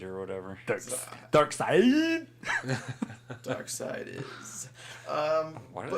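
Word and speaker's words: Darkseid: Dark Seed or whatever. Dark side. Dark Side is. Why do they spell it SEID?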